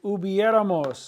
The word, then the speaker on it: hubiéramos: Esperaba que hubiéramos.